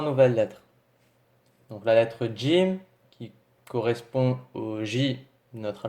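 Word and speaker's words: جيم: diffère légèrement en fait l'être jim qui en phonétique ses cris j à l'oral c'est comme s'il y avait un petit des devant dieu jim d'accord et non gym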